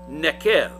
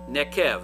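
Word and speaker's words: neqev: Nekev, if you're trying to write it down and spell it out, that's N as in Nancy, E as in Edward, Q as in Quincy, E as in Edward, V as in Victor. Nekev. The V is a V sound.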